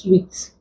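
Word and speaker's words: suite: The UI here contains the long E sound and is pronounced sweet.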